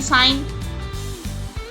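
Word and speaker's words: sign: बहुत से शब्द हम ऐसे बोलते हैं एस आई जी एन साइन साइन नोसिस जी साइलेंट है नोसेसिस डिज़ इसमें भी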